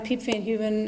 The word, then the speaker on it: Piep Van Heuven: Hi, I'm Piep Van Heuven. It's spelled P like Peter, I-E-P like Peter.